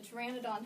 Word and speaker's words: Pteranodon: one he's too ran it on the P is silent for a Madonna now he was very very similar to a pterodactyl the Pteranodon has like this big bony structure that comes